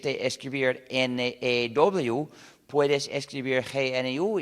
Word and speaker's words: GNU: porque, según el diccionario, la G es muda y la palabra se pronuncia new, es decir, nuevo. Entonces, cada vez que quieres escribir la palabra new, en vez de escribir N-E-W, puedes escribir GNU y es un juego de palabras.